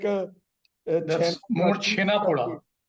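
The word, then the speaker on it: Chhena poda: Maybe Sanjeeb can assist you, or the Channapada, which also comes from there, which is really like a That's more chena poda.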